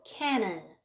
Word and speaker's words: Canaan: the land of Canaan 가나안을 영어로 Canaan 이렇게 발음을 합니다.